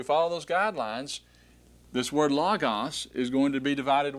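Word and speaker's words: λόγος: The consonant that was wedged between the two vowels goes with the following vowel.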